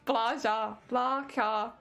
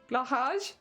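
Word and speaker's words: Blåhaj: How do you pronounce it? Blaja. Blahaj.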